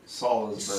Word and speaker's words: Salisbury: Salisbury. Salisbury. Like the steak.